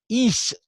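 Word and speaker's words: εἷς: Is, I'm using the modern Greek pronunciation. They do that at Harvard, too.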